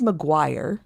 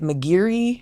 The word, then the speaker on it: Maguire: Um, my last name is Maguire and you wouldn't think that that would be but I get Mcgiri.